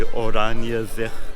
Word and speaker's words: Oranjezicht: But I'm also glad I asked for exactly how do you pronounce the name of the market before I started my video. But it is the Oranjezicht market, named after that particular neighborhood here in Cape Town.